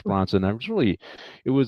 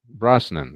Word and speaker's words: Brosnan: How do you say his last name? Pierce Brosnan. Brosnan. Okay, and thank you for correcting me.